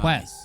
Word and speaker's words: Marquess: Marquess is how you say it.